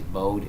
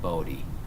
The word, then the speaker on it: Bode: it pronounced two ways bowed and bode plot I think it's pronounced bode so the e is pronounced alright so let's just